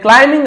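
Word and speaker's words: climbing: एंड क्लाइंबिंग आउट, क्लाइंबिंग है ना, बी को नहीं पढ़ना, क्लाइंबिंग पढ़ना है, क्लाइंबिंग नहीं पढ़ना है, बी साइलेंट होता है, एम के बाद यदि बी हो तो साइलेंट। जैसे कि हम लोग क्या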